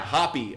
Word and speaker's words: O'Hoppe: It pronounced O'Hoppe. Okay, O'Hoppe. Logan O'Hoppe. O'Hoppe? O'Hoppe? Yeah, Hoppy. Okay, good to know.